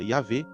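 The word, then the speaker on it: Yahweh: Ao usar o nome sagrado Y e HWh, que para nós a pronúncia seria IAV, ele afirma que o Deus de Israel não é uma divindade local.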